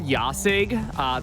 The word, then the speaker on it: Jasig: So it's called Yasig. That is spelled Jasig.